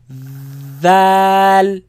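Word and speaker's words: دال: Has alif in the middle, make it long, ends with the L sound. Dal.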